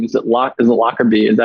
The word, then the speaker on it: Lockerbie: Because like John Smith's going to be pretty hard to find, but your last name, is it Lockerbie? Is that how you say it? Lockerbie, yeah.